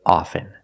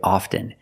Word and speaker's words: often: With both words, I don't pronounce the T. I say soften, and I say often. But sometimes you'll hear people say often, and it's not wrong. It's okay. People say both, often and often.